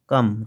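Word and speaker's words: calm: কি সুন্দর মিষ্টি মুখ কাম সি এল এম এখানে লক্ষ্য করো এল এর উচ্চারণ হচ্ছে না এটি হচ্ছে silent word what a কাম face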